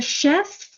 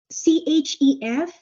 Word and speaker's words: chef: night and that word c h EF it is pronounced sh like sh Chef sh Chef right so